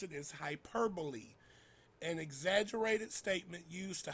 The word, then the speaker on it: hyperbole: people say hyperbole but the correct way to pronounce it is hyperbole an exaggerated statement used to heighten effect it